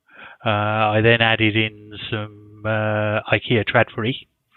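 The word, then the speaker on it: Trådfri: then added in IKEA red furry yeah that's how you pronounce it and terrible experience with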